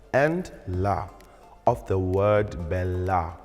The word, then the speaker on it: bella: la of the word bella. On this word, you must also observe the double consonant in bella by singing the preceding E vowel shorter.